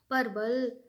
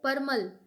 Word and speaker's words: परमल: 2-4 रुपए जो भी उनके पास थे, रास्ते में ही परवल अ, परवल नहीं, मेरा प्रोनाउंसिएशन गलत हो रहा है, परमल, लाई जो होता है, परमल और चना खाते-खाते खत्म हो गया।